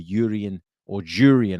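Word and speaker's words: Jurriën: is with regards to Jurrien, I should say, Timber, after he confirmed that you should pronounce the J.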